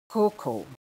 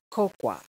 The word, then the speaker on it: cocoa: it's zealous zealous seventh cocoa cocoa not cocoa okay not coco it is coco coco next word amiable amiable